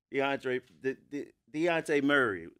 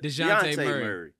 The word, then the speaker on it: Dejounte: Deontay Murray. DeJounte? DeJounte Murray.